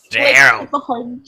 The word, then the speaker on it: Gerald: Oh, it's like Gerald. The hard G.